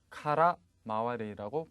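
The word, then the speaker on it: 空回り: 과제는, 자, 겉돔 헛돔, 겉돌다 헛돌다라는 의미의 어휘는 발음이 어떻게 됩니까? 카라 마와리라고 발음을 하겠죠.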